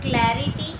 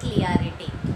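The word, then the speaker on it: clarity: Okay, so क्लैरिटी नॉट क्लियरिटी।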